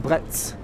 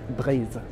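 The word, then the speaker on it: Breizh: I've always wondered how to pronounce this word. For a long time, I pronounced it Bretz. But in Brittany, where all this is from, and the best crepes are from Brittany, you pronounce it Bretz, Bretz.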